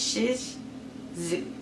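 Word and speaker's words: Shih Tzu: she's a dog and the breed is zooo yeah I know it's sounds like a bad word but it's Shish zoo I spell it so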